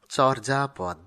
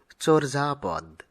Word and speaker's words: চর্যাপদ: অনেকেই চর্যাপদ এরূপ উচ্চারণ করে থাকেন, কিন্তু উচ্চারণটি সঠিক হবে চর্যাপদ।